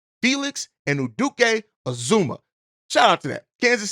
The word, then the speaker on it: Felix Anudike-Uzomah: Felix Anudike-Uzomah.